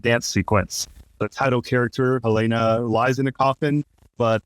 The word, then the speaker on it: Helena: I thought it was Helena, but it's Helena.